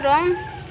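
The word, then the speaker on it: wrong: और दूसरा है रॉन्ग, तो यहाँ पे देखिए W के बाद आर आया हुआ है तो यहाँ पे भी W का उच्चारण नहीं होगा, यहाँ पे W साइलेंट होगा और इसको रॉन्ग पढ़ा जाएगा।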